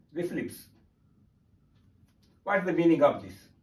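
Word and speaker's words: RFLP: we have to remember RF LP that means restriction fragment length polymorphisms pronounced as reflip what the meaning of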